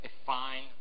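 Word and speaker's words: affine: is a thing called aine is it called aine transformation yeah the pronunciation is important a fine transformation that's a very fancy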